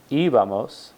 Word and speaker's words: íbamos: So we have iba, ibas, iba, íbamos, accent on the I there, and iban, era, eras, era, éramos, eran, veía, veías, veía, veíamos, y veían.